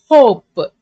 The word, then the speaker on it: hope: and the meaning changes, in which E becomes silent and the vowel inside says its longer name sound. O, P. E becomes silent. So you should not pronounce the name or sound of the letter. O, P. Hope.